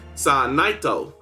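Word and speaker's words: サーナイト: And for those curious, Sana comes from the Japanese name for Gardevoir, which is Surnite, or as it's pronounced in Japanese, Sanaito.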